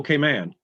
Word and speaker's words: Cayman: no it's grand cayman little k man and then if it's in the beginning as an adjective you can say cayman cayman brac and cayman islands but it's never munn ever and i didn't know